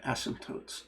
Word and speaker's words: asymptotes: So to talk, a funny word, asymptotes. It's got a P in it. Most people don't hear the P, but asymptotes is how it's spelled.